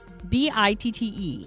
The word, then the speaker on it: bitte: B-I-T-T-E is pronounced bitte, means please.